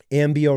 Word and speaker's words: Ambio: Ambio rhymes with cambio, which means change in Spanish.